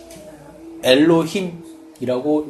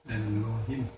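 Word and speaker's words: אֱלֹהִים: 이게 엘로힘이라고 읽습니다. 이쪽 왼쪽에 네모나잖아요. 그쪽부터 읽는 게 아니라 히브리어는 이 거꾸로 읽으면 돼요. 이쪽이 엘 해가지고 로힘입니다. 엘로힘.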